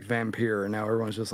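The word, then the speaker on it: Vampyr: they're not the same is that how you pronounce it um v-a-m-p-y-r is how the games here it's vampir get it right oh my goodness vampire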